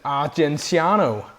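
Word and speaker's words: Argenziano: Carmen, and how do you pronounce it? Argentiano.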